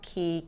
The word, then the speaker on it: Quay: are from Key um you might pronounce it as Quay but it's pronounced key q a y blue